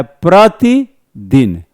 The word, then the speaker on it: प्रतिदिन: प्रतिदिन। प्रति जैसे ही बोलेंगे तैसे ही ब्रेकिंग करनी होगी।